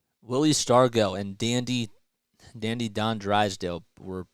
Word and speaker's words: Stargell: Pronounced Stargell.